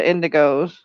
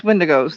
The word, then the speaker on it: windigos: really interested in is is the indigos or i think it might be pronouncing that wrong windows yes windigos thank you the the cannibals yeah